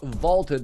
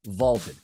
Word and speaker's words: VLTED: Check out Vaulted, that's spelled V-L-T-E-D, Vaulted.